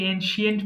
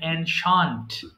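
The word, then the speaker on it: ancient: অ্যানশান্ট পুরাতন, এটাকে এনশিয়েন্ট বলি, এটাকে বলতে হবে অ্যানশান্ট। উচ্চারণ হচ্ছে এনশান্ট, মানে পুরাতন।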